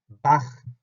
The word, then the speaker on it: Bach: 이렇게 하지 말고 이제 우린 독일어를 하는 사람이니까 Buch 하는 것처럼 Bach. 다시 한번 Bach. 바흐가 아니고 Bach.